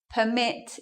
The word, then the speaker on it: permit: So permit here is a noun. Because it's a noun, we're going to stress the first syllable. And here, permit is in the verb form, so we're going to change it. We're going to do it like that.